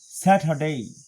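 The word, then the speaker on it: Saturday: র উচ্চারিত হয় না সেই হিসাবে স্যাটারডে ডেই ডে না ডেই ওয়াই আই এর মত উচ্চারণ হবে স্যাটারডে এবং আমেরিকান প্রোনাউন্সিয়েশন অনুযায়ী স্যাটারডে স্যাটারডে স্যাটারডে মানে ট আর ডর মাঝামাঝি একটি অক্ষর এবং ওরা আর উচ্চারণ করে স্যাটারডে তারপরে সানডে আমরা বলি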